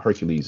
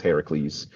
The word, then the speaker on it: Heracles: We we use like the Greek pronunciation. So um Hercules is is Heracles.